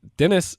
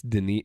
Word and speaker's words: Denis: look different right but like Dennis actually it's Denis you know what so we